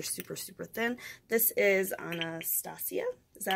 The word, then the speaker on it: Anastasia: This is Anastasia.